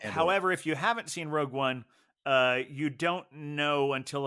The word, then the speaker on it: Rogue One: in I uh I did not see Rouge one uh uh or however it's pronounced um but I understand it's a it's a prequel to Rouge one is that right yeah Rogue one yeah you can uh